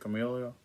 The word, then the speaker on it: Camellia: How do you say it? Camellia? Yeah. Camellia Bowl, Buffalo versus Georgia Southern.